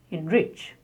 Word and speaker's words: enrich: Here the main word is rich, and en is a prefix. So in such words, the prefix is spoken as in, and the stress on the main word, enrich.